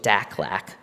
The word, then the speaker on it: DACLAC: aim to achieve with DACLAC, rhymes with AFLAC, leading these vital priority areas, a true California for all.